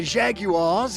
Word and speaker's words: Jaguar: Inspired by the Jaguars and MGs he saw in Europe during World War II, I swear to God, that's how the Brits say that word, designer Harley Earl convinced